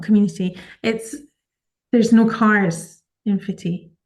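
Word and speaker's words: Footdee: the Dee, um, and stop for an exploration of a place called Fitty. Okay. It's spelled Foot, Dee. So it looks like Foot D, Uh-huh.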